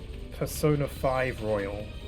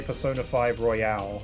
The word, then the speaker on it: Persona 5 Royal: You know, I've heard people say that with um Persona 5 Royal. It's it some people say Persona 5 Royale.